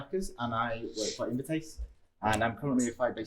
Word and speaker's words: Invertase: Invertase, am I right? Yeah, I pronounced it right, so that's great.